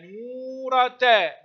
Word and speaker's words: نورة: تنطق، مقطع ساكن، حول نورتا، مد الواو، نورتا، نورة، ما نوع التاء؟ مربوطة، أحسنتم، تنطق تاء، نورتا، نورة، يتحلقن حول نورتا.